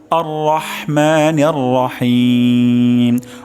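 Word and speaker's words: الرحمن الرحيم: আরেকটা আওয়াজ তেলাওয়াত করছি আর রহমানির রাহিম আর রহমানির রাহিম অর্থাৎ প্রথমে আর র আর মোটা মোটা হবে হা গলার মাঝখান থেকে উচ্চারণ হবে আর মা এখানে র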